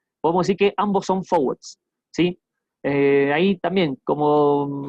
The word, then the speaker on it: forward: decir que ambos son forwards. Sí. Eh, ahí también como así como detalle. Cuando yo digo forward, la R casi que no suena. Sí, si quieren lo repito, forward.